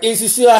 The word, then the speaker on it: nsusua: Jenna, how do you pronounce it? Ensusa. Malaika. Ensuswa. Okay. Ensuso. Malaika got it right. Ensusua.